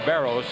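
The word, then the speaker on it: Barros: and baros and uh it's actually pronounced baros and grayer in the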